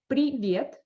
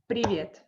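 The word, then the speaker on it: привет: authentic russian speaker and try not to try to stop yourself from pausing between different syllables in one word and instead of previet it's better to say preview so like this not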